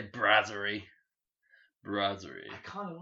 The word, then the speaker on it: Brasserie: Is it Brassiere? Let's find out. Nah, I say Brasserie.